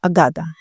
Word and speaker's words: अगद: पंजाबी में अगद और इंग्लिश में AGADA, अगाधा। जो जना बोलेगा अगाधा, अगाधा का मतलब भी बहुत अच्छा है, और अगद का मतलब उसका प्रोनाउंसिएशन अगद है।